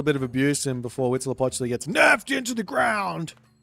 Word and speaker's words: Huitzilopochtli: Huitzilopochtli.